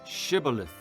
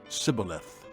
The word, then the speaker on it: shibboleth: they said all right say shibboleth if he said sibilith because he could not pronounce the word correctly They seized him and